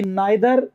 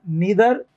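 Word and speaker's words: neither: ऐसे ही नाइदर, नीदर, नीदर, नाइदर, British और American, नाइदर और नीदर।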